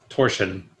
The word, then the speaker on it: torsion: to pronounce the correct pronunciation of torsion right torsion with with an sh sound the uh i and